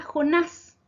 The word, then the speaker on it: Jonás: Palabra aguda, Jonás. Se acentúa en la última sílaba. Se tilda porque termina en S.